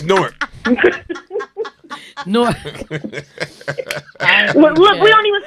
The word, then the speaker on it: Newark: You do not pronounce Nork. It's Nork. Thank you. I said Nork. It's Nork. Like fork.